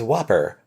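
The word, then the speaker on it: WOPR: to a NORAD supercomputer known as Whopper War operation plan response pronounced whopper or Joshua programmed to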